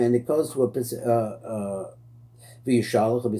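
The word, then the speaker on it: Vayishlach: Vyishalach, the apostle of the Eloch HaMelochim, and it goes to a Vyishalach, we said it's the right way to say it.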